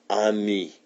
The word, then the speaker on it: ami: say friend in french the word is ami my mom says you say it like this on me i love french everything